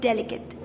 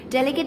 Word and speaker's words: delicate: you are going to skip the e and pronounce it as delicate delicate is used when something is really fragile which